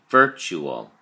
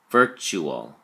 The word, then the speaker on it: virtual: look at your flashcard virtual has three syllables birth to all and the emphasis or stress is on the first syllable verb so we say virtual virtual it is an adjective